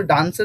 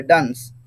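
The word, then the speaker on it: dunce: এটার প্রোনাউন্সিয়েশন কিন্তু ডান্সের মতনই হবে, ডান্স, ডান্স, এটা হবে ডান্স, ঠিক আছে? প্রোনাউন্সিয়েশনটা কেমন হবে? ডান্স। তবে এখানে ডান্স মানে কিন্তু নাচ নয়, ঠিক আছে? প্রোনাউন্সিয়েশনটা ওই ডান্সের মতনই হবে, বাট বানানতে একটু একটু আলাদা, ডান্স।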